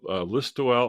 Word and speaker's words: Listowel: Okay, well, today's episode is about Listowel, Ontario. Do I pronounce that correctly, Denis? Yep. Yep. Listowel, Listowel.